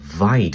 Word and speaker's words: wyd: Wide is a Dutch word meaning wide, referring to their square-shaped or wide lip. But when English explorers came to Africa, the story goes they mispronounced it as white rhino and the name just stuck.